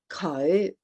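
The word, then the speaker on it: 佢: and it, which is cậu. Yeah, that sounds really good. The tones are, there's that little swing up there, the low rising cậu.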